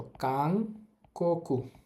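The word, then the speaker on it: 韓国: থাকলে ন অং হয় এখানে ন অং হবে তো কাকু কাংকু অর্থ হচ্ছে দক্ষিণ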